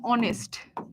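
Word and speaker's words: honest: এই যেমন অনেস্ট, অনেস্টের কি প্রোনাউন্সিয়েশন হনেস্ট, এটাকে কি আমরা হনেস্ট বলি না অনেস্ট বলি? অনেস্ট বলি। এখানে কিন্তু এইচ প্রোনাউন্সড হয় না।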